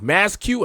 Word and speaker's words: Masque: we got every single Harley Quinn oh oh masq that's how you say it Maxi Maxi maxu